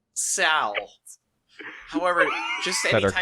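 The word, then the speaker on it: Seoul: Many foreigners say Seal when it's pronounced to be more like Sal.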